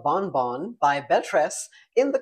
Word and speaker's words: Bonbon: So this cute style by Belle Tress is called Bonbon or Bonbon, if you pronounce it the French way.